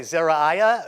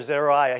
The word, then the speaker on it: Zeruiah: He'll say Zeriah or Zeruiah. He does it differently sometimes.